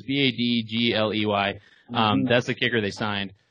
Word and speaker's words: Badgley: I don't know how to pronounce it. It's Badgley.